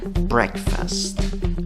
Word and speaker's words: breakfast: En la segunda sílaba, aunque la escritura va con una A, según el diccionario Merriam-Webster, la pronunciación puede ir con una schwa, la que no es ni A, ni E, ni O.